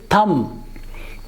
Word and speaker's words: thumb: is not for now this sound will not pronounce its thumb thumb this again this bar sound will not